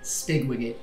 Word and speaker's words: Spigwigget: Ratty Spigwigget. I'm so glad that I phonetically spelled that right.